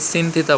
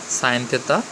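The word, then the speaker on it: sine theta: এটার উচ্চারণ অনেকে সিন থিতা বলে, আসলে সিন থিতা না, সাইন থেতা, কস থেতা, ট্যান থেতা।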